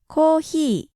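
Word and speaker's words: コーヒー: so we say coffee but in Japanese there isn't a pure F sound and so there is no fee sound so instead of fee they go with he and O's are always long giving us kohi in English coffee in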